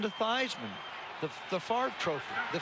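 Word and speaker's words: Theismann: as it is spelled instead of as it's pronounced see that's the problem I had from thievesman to Theisman the the fart trophy the favor trophy I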